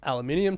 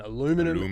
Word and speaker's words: aluminium: But the news of the week is that they raised the steel and aluminium tariffs, or as the Americans say steel and aluminum tariffs, from 25% to 50%.